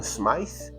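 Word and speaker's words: Smyth: So one can say John smice but it I think they called him John Smith.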